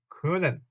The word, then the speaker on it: können: 자, 얘하고 또 같은 방식으로 영어의 can 조동사 can에 해당하는 독일어 그는 자, 오 옴라우트 다시 발음해 볼까요? 오라고 입을 모은 상태에서 이 하니까 그래서 können 아니에요.